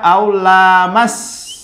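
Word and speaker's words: أو لمستم: Aulamas. Tidak dipanjangkan lamnya. Lihat nih lam, terus ada mimnya langsung kan? Bentuknya jadi masa ala.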